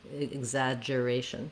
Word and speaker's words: exaggeration: So in exaggeration, main stress is on ray.